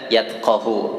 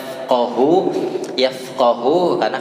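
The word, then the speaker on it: يفقه: Banyak yang baca yatqahu pakai huruf ta. Itu nggak boleh tuh ya, pakai huruf fa. Yafqahu karena kata dasarnya dari faqaha,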